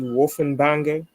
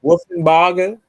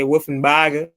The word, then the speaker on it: Wolfenbarger: Jersey Wolfenbanger. Mhm. Wolfenbarger. Yep. You gotta say Wolfenbarger. You gotta say it like that.